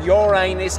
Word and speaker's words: Uranus: minute mate hello dear moons it's me here Ur anus and no it's not pronounced Uranus it's pronounced Uranus many planets confuse the pronunciation